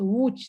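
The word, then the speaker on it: Łódź: of another polish city which you will never pronounce called sorry but it's a very true very very funny name that is always making problems for anyone abroad it's called wooch the city is uh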